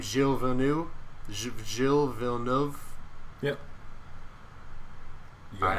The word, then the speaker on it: Gilles Villeneuve: Is that how you pronounce his name? Gilles Villeneuve?